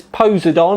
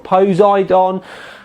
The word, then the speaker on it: Poseidon: taking a look at the Asus posidon or posidon however you would like to pronounce it anyway cuz I always